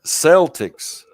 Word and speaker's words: Celtic: say it now they say boston county sell celtics i think it's correctly pronounced with a k a hard cape but